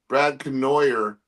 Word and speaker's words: Brad Canoyer: looking forward to introducing Brad Canoyer, the destroyer, right? Because he goes, my my name is pronounced like destroyer.